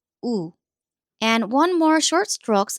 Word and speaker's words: 우: Now the small stroke points down. Imagine thumbs down gesture or someone saying ooh. So this is ooh.